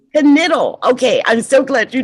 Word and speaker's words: Knittel: We've got Brenda Bailey, Elizabeth, is it Knittel? No, it's Knittel. Knittel.